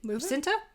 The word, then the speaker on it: Cinta: You just know he's at at at the hands of how do you pronounce her name? Cinta.